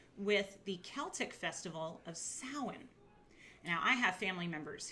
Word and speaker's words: Samhain: of cool now salon looks like sam hayne if you were to just read it but it's pronounced samhain and it is the